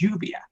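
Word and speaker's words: lluvia: word for rain is Juvia it's spelled ll ubi a the double ELLs make a Y sound in Spanish so I'm saying the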